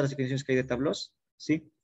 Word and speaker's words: tableau: Y si escribo sí, tabló, es singular. Pero ambos se pronuncian tabló.